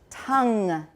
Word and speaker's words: tongue: and you'll get it tongue tongue beautiful say it that way don't say ton or tone or anything else like that okay now here's another part